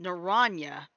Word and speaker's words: naranja: on uh i know naranja it's actually in spanish it's actually pronounced naranya because that's actually that's